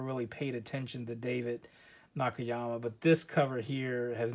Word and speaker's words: Nakayama: Nakayama? Is that how you say it? Yeah, Nakayama.